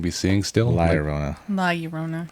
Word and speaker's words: La Llorona: I say La Llorona because that's how it's spelled. Do you say tortilla? Tortillas. Make yourself a damn quesadilla. I would say La Llorona. That's how the guy introduced it on the movie.